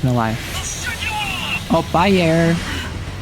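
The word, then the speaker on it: Ayre: for me to realize it was pronounced air, not airy? Because every time I asked people, they told me it's pronounced air, and I thought they meant that was like the first part of the name, so I thought it was airy.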